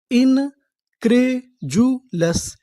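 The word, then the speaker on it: incredulous: इन क्रेजुलस, इनक्रेजुलस, इनक्रेजुलस। इनक्रेजुलस का मतलब होता है अविश्वसनीय, यानी जिस पर आपको भरोसा ना हो। जैसे यहाँ पे डी यू को हमें क्या पढ़ना है? जू।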